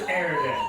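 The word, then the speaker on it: Erdan: My name is Aridin.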